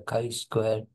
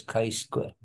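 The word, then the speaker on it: chi-square: will lie in the right tail of the kai Square this is Kai Square although written as G but it is pronounced as Kai Square K Square distribution okay so we have to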